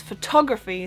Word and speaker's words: photography: So I remember in school that I always found photography hard, because in German it's Fotografie, so it's the emphasis on the last syllable, but in English it's photography, so it's on the O, so there's just the flow of the word is different.